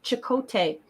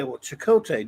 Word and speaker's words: Chakotay: They pronounce it Chakotay, but it's Cote like French. So I believe it should actually have an accent above the O right. or the E, because it's TE, not TAY.